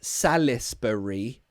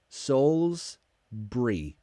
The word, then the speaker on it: Salisbury: any doors Solsbury so its belt Salas burry but we pronounce it Souls Souls BRE souls BRE salisbury salisbury sarah Salisbury steak